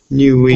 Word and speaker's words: Niue: How do you spell it? I don't see them actually. It's N-U-N-E-U. N-U-I-E. Niue.